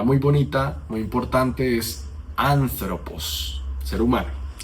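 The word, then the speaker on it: ἄνθρωπος: Y cuando el espíritu es suave, no vamos a modificar en nada el sonido de la primera vocal.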